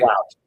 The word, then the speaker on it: Plout: And last name Plout, right? I'm saying it right. Plout.